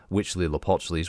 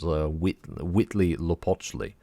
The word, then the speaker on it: Huitzilopochtli: I checked a few different places and they all seem to pronounce the H-U-I-T as a wit noise, Huitzilopochtli. While others were saying Huitzilopochtli, but I think it's Huitzilopochtli, so I don't know.